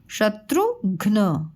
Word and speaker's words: शत्रुघ्न: देखिए यहाँ पे आधा अक्षर लिखा हुआ है, इसके उच्चारण पे ध्यान दीजिएगा। शत्रु, शत्रुघ्न, घ्न, घ में आधा कम सुनाई दे रहा है, उच्चारण कम समय लग रहा है इसलिए हाफ है, ठीक है।